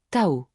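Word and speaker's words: 倒: Le mot pour arriver se dit Tao, et le mot pour à l'envers ou retourner se prononce de manière très similaire, Tao.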